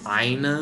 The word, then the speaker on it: ENA: out this neat trick so aina is how you pronounce it instead of ena what idiots luckily not